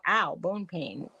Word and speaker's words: Au Bon Pain: But we call Au Bon Pain. We go, ow, bone pain. It's right. It's spelled like pain.